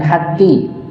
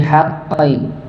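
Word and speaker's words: حقّ: bilhaqqi nah watawau bilhaq Qi Bukan hqi tapi haqqi huruf q ng dan dia bertasydid maka di di apa di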